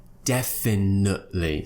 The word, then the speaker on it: definitely: Now, I'm not producing the T after the schwa sound, so I'm saying definitely. But it's okay to say definitely if you prefer to pronounce the T. Either or is okay, but when we're talking fast, generally that T might be dropped in this word and it will become definitely rather than definitely.